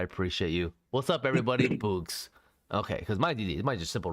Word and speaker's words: bøøgz: Boogs.